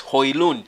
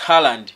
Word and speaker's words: Højlund: The right pronunciation of the name is Højlund. So don't confuse it with Haaland. Some people will say Rasmus Haaland.